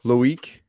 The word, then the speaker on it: Loic: So welcome to the show, Loic. Is that how you pronounce it?